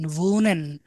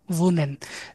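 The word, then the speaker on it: wohnen: বড় ভি আছে না আমাদের ভি এর মত উচ্চারণ হবে তাহলে ভি দিয়ে ভি ও হাহা এন এন ভুনেন ভৌকার ভু দন্তন্য দন্তন্য ভুনেন তাহলে ভুনেন মানে হচ্ছে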